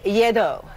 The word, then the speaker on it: Lledo: So here to test our taste buds with a vino-filled round of trivia is Slate Wine Bar chef and sommelier Lledo. Did I pronounce that?